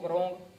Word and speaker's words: wrong: कोई बोलता है इसको रॉन्ग, रॉन्ग नहीं, रॉन्ग, रॉन्ग नहीं, रॉन्ग।